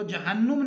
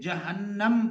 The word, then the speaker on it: جہنم: ہے عزیز طلبہ جہنم، جیم اور ہے پر زبر، نون مشدد مفتو ہے، تو جہنم نہیں پڑھیں گے بلکہ جہنم پڑھیں گے ہم اس کا تلفظ۔ اس کے بعد ہے